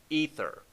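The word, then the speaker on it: Aether: They are going to destroy the material universe with a weapon they call ether. Now, what is ether? You look up the word, it's spelled a little differently, pronounced exactly the same.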